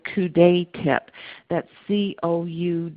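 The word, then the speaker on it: coudé: the males will use what what is called couet tip that's coude it's pronounced couet tip and so it's a catheter with a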